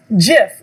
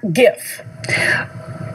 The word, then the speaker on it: GIF: create it and do it and so it's jif not gif and there's a big debate about how to pronounce it but that's how i pronounce it